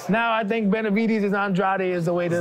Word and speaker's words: Andrade: Capo ver right yeah in my country they pronounce my last name as Andrade and so when they see me Andrade that sounds pretty sexy to me right and in America is pronounced Andre so I get it